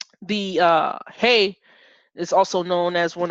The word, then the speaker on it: He: I'll write it out as H-E-H so that I won't be pronunciating that as he when I see it, right? But it's as in hey, and the transliteration letter